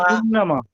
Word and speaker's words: إنما: বা ইন নামা, এই যে নামা টান হইলো, নামা হবে, নামা টান, না টান নেই। বা ইন নামা, নামা, إنما হ্যাঁ ফা ইন নামা, إنما ও ফা ইন নামা।